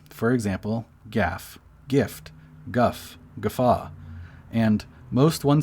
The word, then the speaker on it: GIF: word as a guide according to giffers the closest lexical neighbor to the acronym gif is the word gift because it's only off by one letter t that makes sense so to them it makes the most logical sense to pronounce gif like gift minus the t hence gif that all makes sense